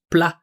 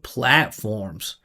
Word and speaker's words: platforms: platforms fuel the hear that vow platforms platform. No, there's no vow, no resonance. Just plent instead of platforms, quantify and expose how